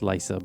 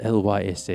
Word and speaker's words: Lysa: Uh, it's it's pronounced Lysa, but uh I spelled L Y SA, you know.